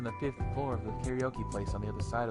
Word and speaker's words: karaoke: Karaoke, or karaoke as it's pronounced in Japanese, means empty orchestra.